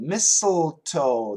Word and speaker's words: mistletoe: like Michael mistl toe mistletoe the first T is silent mistletoe mistletoe other and